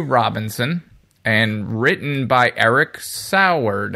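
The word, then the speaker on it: Saward: and written by Eric sard I never know how to say it's cord I want to say cord but there's A's in there say sour doesn't matter some strange business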